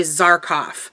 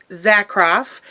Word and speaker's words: Zakharov: tempest zakharov I always I have to be careful of her last name because sometimes I mispronounce it and say zarkoff so Laura tempest zakharov this is a witch's